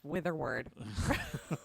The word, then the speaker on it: Witherword: Yeah, there's the H's. You got to figure out what the H's are. yeah. Well, if you're British, you would get it because the Brits have that syllable. Americans don't. Americans don't have the WH sound really. We just smooth it out to just wuh, not wuh, So it's really difficult.